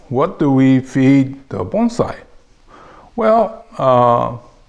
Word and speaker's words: bonsai: have here is the Chinese character and it's pronounced as bonai in Japanese okay so essentially this just says